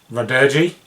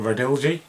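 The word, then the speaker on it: Radirgy: The next one is Radirgi, or Radilgi, whichever way you want to pronounce it, which is a vertical shmup, and it's got cel-shaded graphics, and it's alright.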